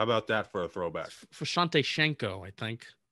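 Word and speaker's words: Visanthe Shiancoe: Vasante Shanico, I think. It's correct pronunciation. Shanico.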